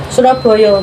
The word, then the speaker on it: Surabaya: Ya, kalau dalam Jawa itu ngucapinnya tuh Surabaya bacanya. Surabaya.